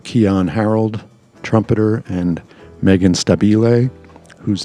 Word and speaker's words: Stabile: Also on board were Keyon Harrold, trumpeter, and Meghan Stabile, whose name you will hear me mispronounce at the live event.